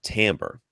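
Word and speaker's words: timbre: why is t i m b r e pronounced tamber because it's dumb English language is dumb dumb it's dumb it is I mean I've I've heard people say timber and that's fine Timber I was corrected I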